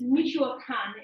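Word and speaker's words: Michoacán: And so for those of you who know maybe some of the states, Michoacan is how it's pronounced.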